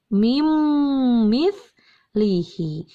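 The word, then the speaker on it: مِن مِّثْلِهِ: Contoh yang ketiga ada pada kata min, ditulisnya min mithlihi, tapi dibacanya menjadi mim mithlihi. Hilangkan n-nya, dilebur.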